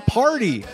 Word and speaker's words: Pardi: The song is called Dirt on My Boots by Jon Pardi, which is spelled P-A-R-D-I, not the fun party.